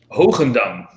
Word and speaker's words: Hogendam: The first syllable of Hogendam is very easy. It's ho. Now I know you guys know how to say ho. Ho. Gen. Dam. It's as easy as that.